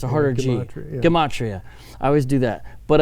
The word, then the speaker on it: gematria: of the Demetria we mentioned earlier I always mispronounce and gematria gomorian Komachi it's a harder Gina gematria I always do that but a little Judah